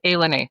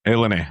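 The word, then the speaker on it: ilani: Wait, that's that's how it's pronounced. It's Alen. Yeah, Alen.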